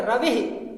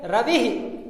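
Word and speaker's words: रविः: रवि के साथ विसर्ग लगाया, छोटी ई की मात्रा है, तो इसको पढ़ेंगे रवि। क्या पढ़ेंगे? रवि, यानी विसर्ग के साथ ई की ध्वनि निकलती है।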